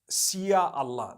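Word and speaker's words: Insya Allah: If you look at, the Malay language, they write in Sia Allah, the S-Y-A. They pronounce the S-Y the way we pronounce S-H.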